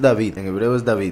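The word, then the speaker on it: דוד: En hebreo es David, Hay quienes lo pronuncian David, porque la Vav en hebreo, que es la letra que está en el medio, el nombre David, se pronuncia como una V y se pronuncia como una U.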